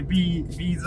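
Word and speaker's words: B'z: あビーズビーズですあの正式な発音はあそうなんすかどこからかねジェリービーンズのビーズですビーンズ言うてます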